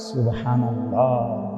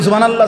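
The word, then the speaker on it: سبحان الله: এটা কই হা কই আপনি যে কইলেন সুবহানাল্লাহ সুবহানাল্লাহ তো হা উচ্চারণ হইছে এটা তো এটা জিকির হইলো তো সুবহানাল্লাহ কইয়া যে থাইমা গেলেন তো লামের মধ্যে থাইমা গেছেন তো আল্লাহ শেষে যে আরেকটা গোল হাটা কই সুবহানাল্লাহ সুবহানাল্লাহ সুবহানাল্লাহ তো হা উচ্চারণ শেষের হাটা কই তাইলে এইজন্য বললাম আল্লাহ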